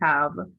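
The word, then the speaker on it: ת: So there are different pronunciations, the modern pronunciation tab and the traditional pronunciation tall. Either pronunciation is fine.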